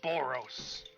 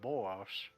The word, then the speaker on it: Boros: my name is boros oh was with a B boros boros oh my God and uh